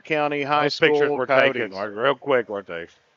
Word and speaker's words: Coyotes: Coyotes. And I think it's important to not just be lazy when you pronounce it. Coyotes. Which everybody will just say Yotes, and then it'll end